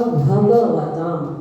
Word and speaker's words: भगवतां: लोग उच्चारण करते भगवतां, तो भगवतां में गा आधा हो जाता है, कलंत हो जाता है। इसका उच्चारण करना होगा भगवतां, आ का भी उच्चारण करना है।